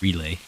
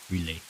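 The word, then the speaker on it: R'lyeh: in the city of relay R apostrophe l y h relay relia which is under relia relay I don't know it's another one of those names that is fair alien he's hibernating there because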